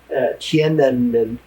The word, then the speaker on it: Tiananmen: I said, even if they kill everybody who was ever in Tiananmen Square, and I'm one of the few people that pronounce it correctly. It's hard to get that M in. Tiananmen.